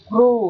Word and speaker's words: grew: Grew ở đây. EW này được phát âm là âm U dài.